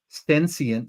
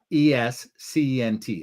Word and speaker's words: senescent: class of drugs designed to target and eliminate sentient cells. Oh, SENESCENT. I pronounce that sentient.